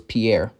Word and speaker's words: Pierre: did not know that the capital of South Dakota was Pierre, which is actually pronounced Pier by the locals.